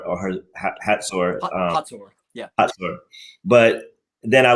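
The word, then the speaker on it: Hazor: heard and read obviously in the Bible about Hzor or Hatsur.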